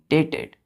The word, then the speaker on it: debt: ऋण का डेट का मतलब क्या होता है, DEBT बोलते हैं उसको, डेट बोलते हैं। बी साइलेंट हो जाता है यहाँ पर, DEB साइलेंट है, टी डेट मतलब कर्ज।